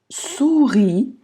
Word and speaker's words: sourit: Et me sourit. ОУ это У.